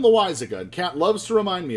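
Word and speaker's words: Loáisiga: pronounce and it's because one time i said lois sega and i don't know why but it's jonathan lewis a good cat loves to remind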